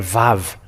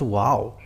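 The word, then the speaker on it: וו: VAV it said or VAV so the wow it's it's VAV not wow and this VAV it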